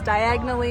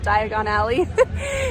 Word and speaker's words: Diagon Alley: one of the movies where Harry is trying to travel by flu powder and says diagonally instead of Diagon Alley so sometimes I say it wrong uh but anyway that